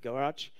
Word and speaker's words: GOARCH: Don't call me out for this pronunciation. It's Rob Pike who has very sometimes special ideas on how to call things. So it's Goes and GoArch.